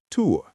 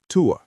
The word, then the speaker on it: tuo: Now, if something is further away, like on a shelf across the room, we say that, tuo. Student, say that, tuo.